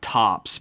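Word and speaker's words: Ptops: It's a sassy pterodactyl named Topps, but it's spelled P T O Ps.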